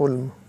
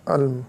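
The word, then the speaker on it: Ulm: Albert Einstein was born on 14 March 1879 इन the German city of उल्म या अल्म, जो भी आप बोल सकते हैं, उल्म या अल्म, ठीक है? ये प्रोनाउंसिएशन है इसका।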